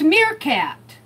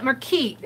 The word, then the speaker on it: meerkat: Oh, it's Meerkat. Mirror cat. Thank you, Aunt Beck. I call it Merkeet. I was mispronouncing it.